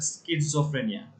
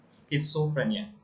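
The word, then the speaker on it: schizophrenia: এর উচ্চারণটা হচ্ছে স্কিজোফ্রেনিয়া। স্কিজোফ্রেনিয়া এটা ওই প্রোনাউন্সিয়েশনটা স্কিজোফ্রেনিয়া।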